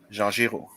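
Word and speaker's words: Jean Giraud: am i saying that right yes you are jean-jiro okay jean-juro and is it mobius or is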